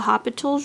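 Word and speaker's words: L'Hôpital: video is on the hospital's rule or hospitals rule you don't have to pronounce the l but this is used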